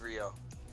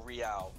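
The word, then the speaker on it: Reao: Let me spell it out. Riao. R-E-A-O. I think. Yeah, it's Rio. Rio or Riao, however you want to pronounce it.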